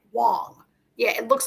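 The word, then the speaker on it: Huang: pronounced Wang right it's spelled Wang but it's pronounced W Wong yeah it looks like Wang but it's Miss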